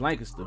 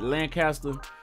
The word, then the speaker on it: Lancaster: I know it's pronounced Lancaster in other places, but here in Texas, it's pronounced Lancaster, and you always have to pronounce it like the locals pronounce it.